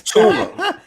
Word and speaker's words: Tua: See, I'm pronouncing names like Tutalula. Tua is I got his name. It's Tua. it's Tua Tagovailoa.